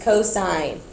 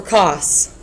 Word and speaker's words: cosine: Remember, you pronounce this s and you pronounce this cosine. You don't say sin or cost cuz that really gets on my nerves.